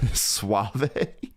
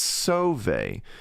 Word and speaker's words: Sauvé: I think I said Suave, like Rico Suave or something. But I could just never really figure out how to pronounce his name. It's like, is it Save or Suave? But it's Sauvé. It's spelled Sauve with like an accent on it.